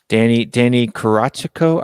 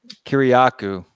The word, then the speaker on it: Kiriakou: The other guy, Danny Karachico. I can never pronounce his last name. Kuriko? I think it's Kiriakou. Kiriakou. There it is.